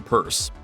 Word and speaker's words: Pierce: In the years before he was elected president in 1852, Franklin Purse, yes, it's spelled Pierce but pronounced purse.